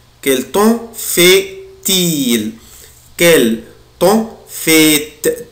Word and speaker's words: fait-il: إيه وليكن Quel temps fait-il? Quel temps fait-il? Quel temps fait-il? Quel temps fait-il? Quel temps fait-il? هنا هنطع حرف T يا ولاد عشان بعدها ال I voyelle.